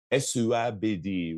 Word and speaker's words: Esuabidi: Esuabidi really is how it's pronounced.